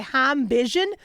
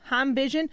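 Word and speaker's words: HeimVision: don't pronounce this wrong this is a high vision that is h-e-i-m heim vision all right so let's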